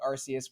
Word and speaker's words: Arceus: And yes, I'm saying Arceus with a soft S. That is deliberate. I will not take this slander from Jono and others trying to call that thing like it was spelled with a K.